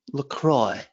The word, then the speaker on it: LaCroix: one of those LaCroix I actually heard that it's produced in Minnesota and that's how they say it so I'm in the know even though it looks like a French thing LaCroix um so yeah that